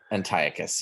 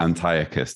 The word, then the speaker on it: Antiochus: 11, it's talking, isn't it, about and you pronounced it differently to me. Antiochus IV Epiphanes. Antiochus, yeah. Antiochus, thank you.